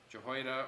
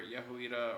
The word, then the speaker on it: Jehoiada: of the high priest of jehoiada or yahuwita or however you want to pronounce his name that works yep so